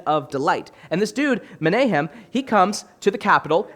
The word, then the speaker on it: Menahem: This dude named Menahem, I always don't pronounce the name right. It's Menahem, and his name, Menahem, means comforter.